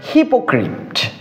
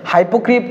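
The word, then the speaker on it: hypocrite: এই ভন্ডর ইংরেজি হচ্ছে হিপোক্রিপ্ট। ভন্ডর ইংরেজি কি? হিপোক্রিপ্ট। ঠিক আছে? হাইপোক্রিপ্ট আবার উচ্চারণ করিও না। হিপোক্রিপ।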